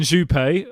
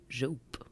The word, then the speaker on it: Jope: Chief Executive Alan Juppé, or Alan Jope, not sure how you pronounced it. Was that an attempt at French? I don't know how you pronounce it. Jope. Oh, yeah. Jope.